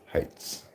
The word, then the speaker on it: Hites: It's actually pronounced or spelled Heights Cove. Hites apostrophe S. Heights.